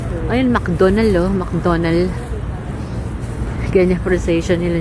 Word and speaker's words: McDonald's: Nainis sila 'ag sina pag ano tinanong sila, "Where's McDonald's?" Talagang ayaw na ayaw daw nila. Hindi daw 'yun McDonald's. McDonald. McDonald's. Hindi na pino-pronounce D at saka S.